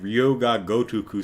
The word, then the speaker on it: Yakuza: because it's a lot easier to say than Yuh-KOO-zuh Studio, which I just butchered.